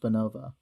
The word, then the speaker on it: Beenovia: If you listen to Read, the original Read episode, the world-building episodes, you'd know it's pronounced Beenovia. But none of us are from there, so we have an excuse to mispronounce it.